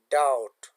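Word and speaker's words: doubt: B remains silence before T. د بی توری د ټي نه د مخه نه ادا کیږي، لکه ډاوټ.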